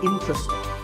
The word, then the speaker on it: interesting: board number 11 is interesting this is mispronounced sometimes as interest but there are only three syllables in truck stings and the stress is on in so the word is interesting number 12 is hotel